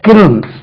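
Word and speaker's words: kiln: right செங்கச் சூளை பிரிக் கில் k ஐ எல் என் உச்சரிங்க பாருங்க கில் அது கிளின் இல்ல கில் அதே மாதிரி ஒரு வேர்டு காமன்லி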